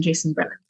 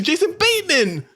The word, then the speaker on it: Jason Bateman: So it could have been Jason Bretman. I said writers. Jason Bretman isn't a thing. It's Jason Bateman.